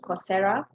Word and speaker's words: Coursera: There's another site called Coursera, which is spelled course, and then you end it with RA, Coursera.